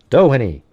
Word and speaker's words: Doheny: Is it like Doheny or Doheny? Doheny. I don't know, man. You have to do phonetically, then maybe I can try. Oh, Doheny. Oh, Doheny. Oh, that's cool. So you say Doheny, like that.